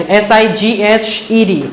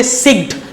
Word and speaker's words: sighed: So this is known as sighed, S-I-G-H-E-D. Okay, so sighed here, don't say sigged. The pronunciation is sighed, S-I-G-H-E-D.